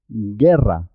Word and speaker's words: guerra: y una I juntas suena gu gu gui guerra la u No se oye no se escucha la u es muda en este caso guerra geopardo guitarra águila